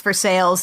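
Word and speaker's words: Versailles: that is actually called for sales yes it's pronounced for sales yes it's spelled the same as force I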